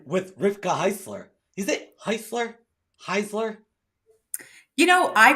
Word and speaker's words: Heisler: cooler Wednesday and with Rifka Heisler is it Heisler Heisler you know I pronounce it Heisler Heisler yeah Heisler see this is the type